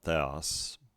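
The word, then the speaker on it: θεός: and sigma for us not theos because this is on this the acute accent is on the second syllable the os we haven't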